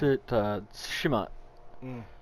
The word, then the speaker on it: Tsushima: That T was really soft when he said it. When we listened to the pronunciation earlier, the T was slightly harder, and then my American, accent makes it even harder.